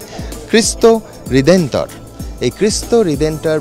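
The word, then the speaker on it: Cristo Redentor: এরা পর্তুগিজ ভাষায় একে বলেন অনেক কষ্ট করে উচ্চারণটা শিখেছি। তাই আপনাদের শুনিয়েই ছাড়বো। খ্রিস্ট হৃদেন্তর।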